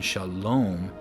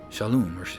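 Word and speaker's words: שלום: But for the vav here, it's an u sound, shalom, or they say shalom, but it's shalom. So we see a default a in between the shin and the lamed, shal, but we don't need a default a between the lamed and the vav, or the lamed and the mem, because there's already a vowel there.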